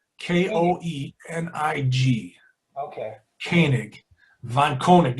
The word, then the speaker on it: Koenig: I don't know why how do you pronounce your last name, Rico? Koenig. Koenig.